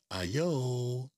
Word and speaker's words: ayo: It's spelled A-Y-O, and if you read it, you think it actually says ayo, which is a common street greeting here in at least New York City.